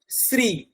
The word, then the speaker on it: শ্রী: যেমন এখানে ম্যাডাম রয়েছে সৃজা, শ্রী, শ্রী একদম জিভটা ওই দাঁতের জয়েন্টে লাগবে তবে এই উচ্চারণটা বেরোবে, না হলে বেরোবে না।